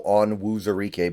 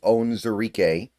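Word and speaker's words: Onwuzurike: always mess this up I always want to go on wuar but it's on zarque which is really bad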